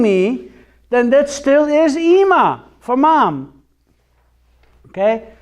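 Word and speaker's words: אמא: then that still is EEMA for Mom okay so Emma does have a silent Aleph on the end why is it silent because there's no jot or tittle Nonie could as you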